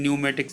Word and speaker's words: pneumatics: of land रहता है आप देखिए पी लगा है तो पीछे शुरुआत में कितने न्यूमेटिक्स एंट्री हो रही है यानि कि है इसमें साइलेंट है इसकी उत्पत्ति भी हाइड्रोलिक